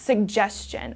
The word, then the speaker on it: suggestion: Okay, so that double G, please pronounce suggestion.